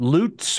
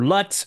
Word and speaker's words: LUT: sure how they're pronounced is it loots or Luts Lut or stands for lookup tables Luts I thought it was Luts okay Luts basically there's a